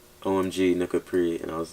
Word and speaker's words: Nuka Prix: Alright, so first part is Nuka. It's just a name that my dad gave to me, and the second part is Prix, like Grand Prix, like, you know, like yeah, Nuka Prix.